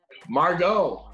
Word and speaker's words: Margot: is her name margaret martin how do you pronounce your name morgan margot oh here we go silent t i'm pretty